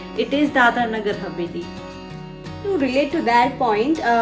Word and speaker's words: Dadra Nagar Haveli: Haveli is its pronunciation Sometimes they pronounce Dadra as Dadar They confuse it with Mumbai's Dadar area.